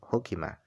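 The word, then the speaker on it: حُكِمَ: Nah, cara bacanya hukima ini adalah bil binai lil maf'ul. Yaitu dengan dibaca majhul hukimah.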